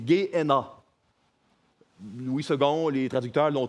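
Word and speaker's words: Γέεννα: En grec, ça se dit, on ne prononce pas le B, c'est Gé-Héna.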